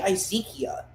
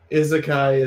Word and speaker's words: izakaya: the i i call i say izekia it sounds like a wrong biblical character i don't know it's some japanese word izakaya is the japanese word you have been saying it wrong i keep calling it